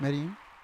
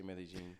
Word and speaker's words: Medellin: medin is it medine yeah that's right medine how do you pronounce it uh medine okay some people say really yeah is that like a Spanish pronunciation it's like uh in in Colombia they say meene is it Colombian really it's span it's Spaniard